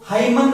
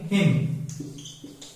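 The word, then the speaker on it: hymn: तो I like Indian हिम, मुझे Indian हिम पसंद है, इसको हाइमन नहीं बोलते हैं, हाइमन नहीं, हिम, क्योंकि एम के बाद एन आ गया तो फिर क्या होगा एन इज not pronounced, autumn N इज not pronounced.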